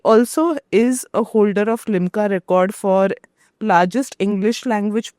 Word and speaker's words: Limca: By the way, another interesting fact about Siddharth for the audience, he also is a holder of Limca record for largest English language puzzle.